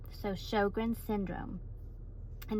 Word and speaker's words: Sjögren: It's SJ O gre and it's pronounced show like a movie going to the show and then grin like I have a grin on my face. So, Shogrin syndrome and it's an autoimmune disease.